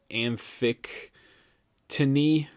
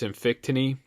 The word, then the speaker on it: amphictyony: They had a council just like it, and they called it an amphictyony. I believe I'm trying to pronounce it right. It's amphictyony.